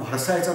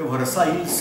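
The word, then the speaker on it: Versailles: आपण दुसऱ्या पहिल्या महायुद्धाच्या शेवटी जो जर्मनी बरोबर जो तह झाला होता तर त्याला आपण व्हर्सायचा तह म्हणतो. तुम्ही इंग्लिशमध्ये स्पेलिंग बघा, ते व्हर्साईल्स असं काहीतरी लिहितात. बोलताना म्हणायचं व्हर्साय. दुसऱ्या महायुद्धाच्या वेळेला फ्रान्समध्ये पंतप्रधान होता, त्याचं नाव होतं दलादिया.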